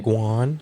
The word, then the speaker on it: guan: Guan, like Gwen, but Guan.